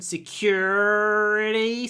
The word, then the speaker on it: security: American pronunciation, security, secure. British pronunciation, security, security, like an or sound, security. Just don't say security. Security. Make the stressed or long. Security. And try to aspirate the k. Security. Lots of aspiration.